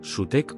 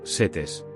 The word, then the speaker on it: Set: El nombre de Set, en egipcio antiguo, se pronuncia algo como sutec o setes.